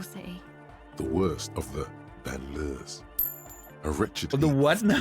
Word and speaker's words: banlieue: Banlieue is how it's pronounced.